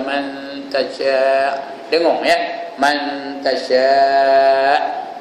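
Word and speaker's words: تشاء: Man tasya'. Tasya' tu 5 harakat. Jangan tasyak aja.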